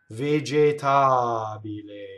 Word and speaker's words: vegetabile: Where's the stress? It's vegetabile. Ta. The A is the stress. So all of the E's are in the unstressed position and thus are A. They're closed. Notice the single L.